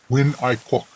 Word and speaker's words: Nguyễn Ái Quốc: I read some articles about this young firebrand named Nguyen A. Kwok. He's a Chinaman who studied in Paris, if I remember correctly. It's pronounced Nguyễn Ái Quốc.